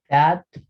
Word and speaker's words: that: Sonido de la TH, como les había dicho, ¿no? Es como una D, pero con bueno, con un sonido también que se exhala, por así decirlo, ¿no? That, como una Z española, ¿sí? También pueden ponerlo así, pero para que no se confundan con SAT, ¿no?